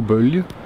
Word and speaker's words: Bølge: how to pronounce our company name hi we pronounce it qu or bu yeah what he said so where was I